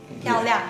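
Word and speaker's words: 漂亮: 漂亮.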